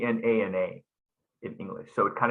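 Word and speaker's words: jnana: It's usually spelled you know g n a na in English. So it kind of confuses English speakers who see that. But it's actually pronounced nana.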